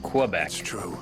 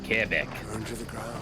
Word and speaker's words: Quebec: You gotta say it like a francophone does. Not Quebec, but Quebec.